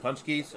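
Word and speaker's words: pączki: It's called Punchkis, and I'll spell it on the chat for you because it's not spelled. It's not spelled how it's phonetically we'll call it, but so they're like a ridiculously large amount of calories.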